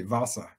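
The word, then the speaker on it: Wasa: know it's funny in in german the w a s a is pronounced like a v vasa okay but it means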